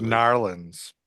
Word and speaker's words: New Orleans: It's pronounced Narlands.